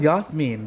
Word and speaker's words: Jasmine: just said her name was yasmine that's how you say it that's not how everybody said that i've been saying it longer before anyone that you know so i know the correct the correct pronunciation jasmine thinks her name